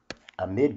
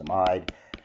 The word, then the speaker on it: amide: molecules and this functional group is called the amide group or amide group depending upon how you want to pronounce it i guess it officially should be a pronounced amide but a lot of people call it a